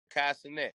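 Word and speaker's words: Kai Cenat: Okay, Kai Sinet, Kai Sinet, the Kai Sinet youngin, man.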